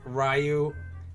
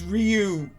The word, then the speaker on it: Ryu: Rayu. Hi. Hi. Whoa. Hi. How wrong can I say it? It's Ryu.